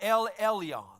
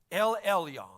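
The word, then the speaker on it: אל עליון: if you've ever heard of this but it's pronounced L Elion L Elion L is the word for God you get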